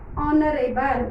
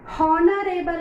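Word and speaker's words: honorable: Next ಆನರೇಬಲ್ ಆ್ಯಂಡ್ ಆನರೇಬಲ್ president and ಆನರೇಬಲ್ president. ಹಾನರೇಬಲ್ ಅನ್ನಂಗಿಲ್ಲ, ಅದಕ್ಕೆ ನಾವು ಆನರೇಬಲ್ ಆ ಅಂತ ಉಚ್ಚಾರ ಮಾಡ್ತೀವಿ.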